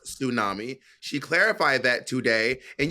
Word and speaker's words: tsunami: let's go on to let's go on to tunami which by the way mon tried to Gaslight me it is pronounced tsunami she clarified that today and you were like